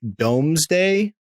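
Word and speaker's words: Domesday Book: pronounced the I believe it's pronounced the Doomsday Book but it's like domes day but I think it's pronounced doomsday at least that's I think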